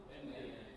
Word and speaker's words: Enem: Enem, eu digo e n ou chamo Enem? Enem.